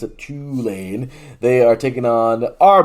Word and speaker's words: Tulane: show, the Bayou Bulletin, says that's how you pronounce it, Tulane.